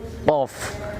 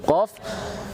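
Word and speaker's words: ق: Tapi di sini ada sedikit catatan tentang pengucapan huruf qaf ketika dalam kondisi kasroh. Pengucapan qaf dalam kondisi kasroh kita karena qaf tersebut isti'la tapi bukan mutbaq, maka ketika dalam kondisi kasrohnya pengucapannya tafkhimnya tidak sempurna.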